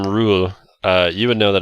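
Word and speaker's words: Ruul: So, with the name Rule, you would know that it's spelled R-U-U-L. Oh, And- rule. Yeah, like Oh. ruler, but not Yeah.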